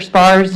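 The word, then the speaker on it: Spahr: Spar's name. It's spelled S-P-A-H-R, and it's Anthony Spar.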